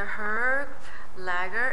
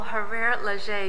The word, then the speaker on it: Hervé Léger: are here at the herb lagger is did I pronounce correctly her Le oh her Le excuse me spring 2013 press preview